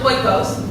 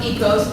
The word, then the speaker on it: Oikos: no, the yogurt, it's not a food. The yogurt is pronounced Oikos. Dan and Yogurt tried to Americanize the Greek word. It is pronounced Oikos, and Oikos is a derivative of the Greek word economist, which is economy.